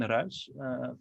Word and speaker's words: Ruisch: way that sounded uh i usually say roosh but i've been corrected